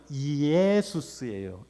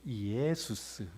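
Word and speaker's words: Ἰησοῦς: 그리고 마침내 그 예시아가 그리스어로 옮겨져서 원래 발음은 이에수스예요. 이에수스. 이에수스.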